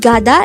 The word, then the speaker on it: 가다: behangle word number 56 the word gada is a root verb or an action word